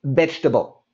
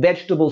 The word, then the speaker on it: vegetable: say it quick and fast and we say vegetable as an example we could say i love having vegetable soup in the the winter so we we